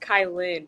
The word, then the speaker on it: Cailyn: It's pronounced Cailyn, but it's totally okay because I get Cailyn all the time.